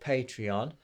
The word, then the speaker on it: Patreon: have a thing called patreon i know some people don't pronounce it like that but that's how the founder pronounced it so i'm going to